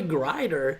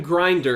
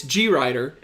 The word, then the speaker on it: Grider: I'm glad yep exactly it's actually Grider yeah and I think every week I mispronounced call them grinder it's G Ryder and kinda say it